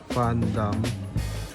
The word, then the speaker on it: Van Dam: Pangalan nyo is Fandom. Fan kasi yung pinila dito pronounce as F.